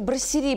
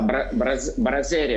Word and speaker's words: брассерия: Это брассери, правильно называется? Так. Да, брассерия, бельгийская, да. Брассерия. Да. Я ведь по-русски ставлю ударение.